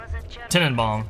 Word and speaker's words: Tenenbaum: Tenenbaum, technically, is actually how you say it.